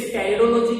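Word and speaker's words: pteridology: अध्ययन करते हैं उसे टेरिडोलॉजी कहेंगे। पी साइलेंट, इसमें ध्यान रखना।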